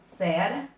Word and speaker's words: Ceará: Agora eu vejo qual é a sílaba mais forte. Eu falo Ceará, Ceará ou Ceará. Haha, eu falo Ceará, tá aqui a sílaba mais forte, tá? Tenho a última sílaba como sendo mais forte, então ela é uma oxítona.